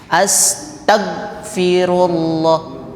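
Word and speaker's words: أستغفر الله: suara jadi kadang eh Maghfirah kita bacanya mag mag Ah ya eh astagah Astagfirullah kurang karena suaranya harus mengalir terdengar astag Astagfirullah astag ah suaranya mengalir kadang kita jadi G jadi langsung bunyinya langsung berhenti astag nah tidak demikian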